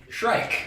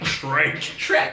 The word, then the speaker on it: Shrike: You pronounce that word for me. Shrike. Shrike.